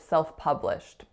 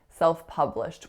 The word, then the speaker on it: self-published: word I said incorrectly was the word self-published self-published which I said a self-published self-published a lot of my clients get these kind of words wrong where the sound should be an up but it's spelt with a letter U I really often hear ooh ooh sound so definitely watch out